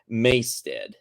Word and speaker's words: Maystead: Stead rhymes with head. Okay, so Rob's Maystead.